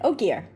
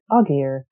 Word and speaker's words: Ogier: species is an uh ogier yes good oh gear because i a lot of times in my head i was like uggier or even better oh gear very easy name min